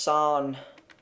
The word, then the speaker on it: san: Ah, like in the R in the English harm or farm, e.g. san. Mountain would be pronounced san.